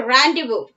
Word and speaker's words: rendezvous: Okay, rendezvous. Don't think I'm reading or pronouncing this particular word wrongly, I have refer all these words in the dictionary and I am giving that word.